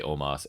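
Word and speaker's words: Omos: aj styles omas omas i don't know how to say they say oma they do say omas and bobby lashley in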